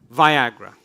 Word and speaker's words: Viagra: Viagra. Le Viagra. It rhymes with Niagara.